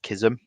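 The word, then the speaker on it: Chism: Uh is he's called Eftton Kism. Um it's spelled C H I Sm.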